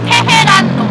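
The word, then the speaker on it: 테헤란로: Okay, I'll pronounce that. This street is called Tehran-no.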